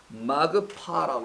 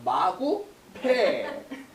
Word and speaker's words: 마그파: 근데 이 재앙을 뭐라고 하냐면 마그파라고 그래요. 마그파, 마그파. 제가 살짝 바꿔서 마구패. 발음상 마구패 이렇게 나올 수 있는데 마그파라는 게 있어요. 마그파, 마그파 여기 있습니다.